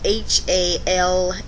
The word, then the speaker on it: halal: It's spelled H-A-L-A-L, halal.